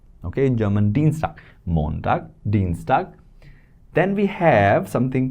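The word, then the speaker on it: Dienstag: So Deanstag, not Deanag, Deanstag, that is how you remember it. Deanstag is Tuesday. Okay, in German Dean Montag, Deanstag.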